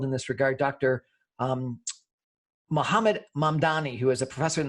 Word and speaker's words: Mamdani: Am I pronouncing it right? Mamdani.